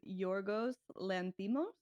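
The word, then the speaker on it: Yorgos Lanthimos: Oh, by the way, the director is Yorgos Lantimo.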